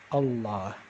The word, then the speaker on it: الله: going back to allah alif lam here is the article and so since it is the article the and there is another lamb right after this lamb only this one is pronounced allah so i'm going to